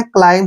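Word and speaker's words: climb: रखना एम के बाद जब भी बी आए तो बी का उच्चारण हमने नहीं करना है और एम को हम मैं पढ़ेंगे क्लाइम इसको क्लाइम नहीं पढ़ना है क्लाइम होता हैय बी यहां पर साइलेंट होता है क्लाइम होता है चढ़ना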